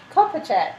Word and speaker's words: Kopacek: How do we pronounce Josh's surname? Do you know? I checked with Josh earlier how we pronounce his surname because I wanted to pick Beth up on it when she got it wrong. Thank you, Mark. Kopacek? Kopachek. Yes. Okay, from Echoes.